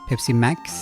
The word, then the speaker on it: Pepsi Max: Like Pepsi Max would be the Norwegian pronunciation, but I guess it's like as in maximum. Pepsi Max.